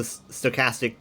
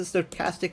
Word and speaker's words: stochastic: You know, he's a he's a he's a stochastic terrorist himself. Is it stochastic or stochastic?